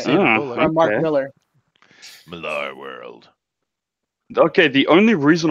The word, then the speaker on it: Millar: Okay, and I do just to correct you, Denelli, I do believe it's pronounced Millar.